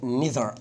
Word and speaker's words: neither: من ضمن الافكار الحلوه في السؤال المزيل خطيره، اي كلمه تعطي نفي زي never وزي not only وزي طبعا neither او neither، تتنطق الاثنين على فكره.